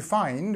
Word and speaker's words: find: the others so this to find we have this I sound so to find but actually when we have found sound we have this sound okay so it's ow found okay just remember that everything